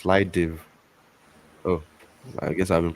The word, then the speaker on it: Slidev: So I've actually been pronounced Slidev.